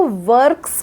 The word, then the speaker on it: वर्क्स: नहीं है तो हम रेफ का उच्चारण करें करेंगे व के बाद क्योंकि व में तो अ जुड़ा हुआ है पूरा व है तो वर्क्स बोलेंगे यही वजह है कि